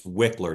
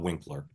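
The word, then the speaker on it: Wikler: first of all I'm constantly mispronouncing Ben the other Ben's last name it's wickler not Winkler um he's a very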